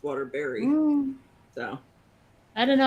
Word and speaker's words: Waterbury: In Connecticut, we have Waterbury, which is spelled B-U-R-Y. Nobody calls it Waterbury. It's Waterbury.